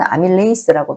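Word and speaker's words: amylase: 개가 어 들어 있습니다 아밀라 이제는 아밀레이스 발음합니다 다 는음 제분하여 과정이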